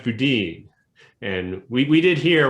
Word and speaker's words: Boudin: i clerked which is it's generally he pronounces judge boudine and we we did